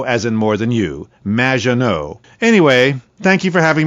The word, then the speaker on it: Maginot: mispronounced my name it's madge which rhymes with badge uh as in duh and no as in more than you maginot anyway thank you for